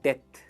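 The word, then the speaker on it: debt: इसे कहते हैं डेथ। क्या कहेंगे? डेथ। बी is silent, this is डेथ, right?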